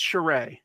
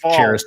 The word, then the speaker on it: Charest: I'm pretty sure it's Charest. So Charest. And there's an artist often probably pronounced Cherished by most people.